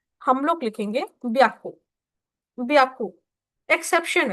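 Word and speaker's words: びゃく: पे ह्याकू ना लिख के हम लोग लिखेंगे ब्याकू ब्याकू एक्सेप्शन है दिस इज़ एक्सेप्शन ब्याकू तो आप इसको पढ़ोगे सान ब्याकू सान ब्याकु अब सान ब्याकू भी आप लोगों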